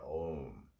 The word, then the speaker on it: Om: of yoga state that if we do a long o half of the exhalation is o and the second half